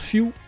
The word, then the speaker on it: Fu: Fu se prononce Fiu. Ah, comme fusion.